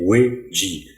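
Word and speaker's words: 危机: se traduit par un double mot qui est wei-ji. Wei, ça s'écrit W-E-I, et ji, ça s'écrit J-I.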